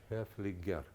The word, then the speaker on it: Haefliger: There is no N here. Haefliger.